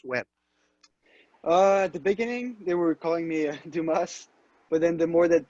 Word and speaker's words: Dumas: spoke on the phone I gave it the old english pronunciation of Dumas pronouncing the s but it is do ma correct yes it is